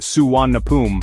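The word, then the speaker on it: Suvarnabhumi: The name Suar Nabumi pronounced Suan Napum was chosen by the late King Bumibol Abdul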